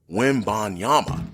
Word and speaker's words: Wembanyama: here soon, so I better get used to pronouncing that name, Wembanyama.